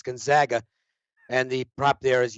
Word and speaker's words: Gonzaga: will charles brockley still not be able to pronounce the name of the school correctly it's not gonzaga it's gonzaga and the prop there is yes he he